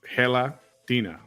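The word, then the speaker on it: gelatina: how to pronounce this it's Hela Dina which is a word for gelatin in Spanish hey there hey Michelle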